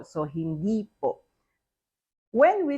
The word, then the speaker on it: hindi: Again, there is no in the second syllable of hindi. Why? Because there's already the po. So hindi po.